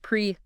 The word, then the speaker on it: PreSense: Presense by the way is pronounced preense.